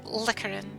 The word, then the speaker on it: Likarin: Or Likarin, rather. That's the proper way to pronounce it.